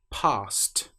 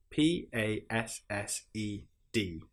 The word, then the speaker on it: passed: Sometimes it's pronounced like a normal D sound, but sometimes it's pronounced like a T sound. What are some examples? If we're talking about something passing you, we will say this car passed me.